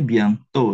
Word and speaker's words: bientôt: Ini bacanya bientôt ya. Et à la fin, on ne prononce pas.